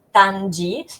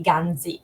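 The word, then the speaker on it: Ganzhi: perdonate il mio cinese, Tanji, che se lo dovessimo scrivere in lingua occidentale sarebbe G-A-N-Z-H-I, quindi Ganzi, però non è la pronuncia corretta.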